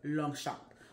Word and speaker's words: Longchamp: Yes, it's spelled Longchamp, but it's French and it is a French brand. So they pronounce it Longchamp.